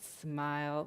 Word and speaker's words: SMIL: we know it as smile you can remember it's pronounced smile like the face will smile it's used as animate